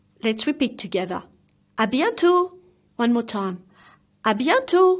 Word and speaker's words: à bientôt: means see you soon then again like salary the T is silent let's repeat together a bientot one more time a